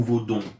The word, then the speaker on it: vaudou: que c'est que le vaudou. Oui, mais bien sûr, parce que c'est important pour les gens. Tout à fait. Le vaudou, c'est... Alors, vaudou ou vaudon? J'entends les prononciations qui varient.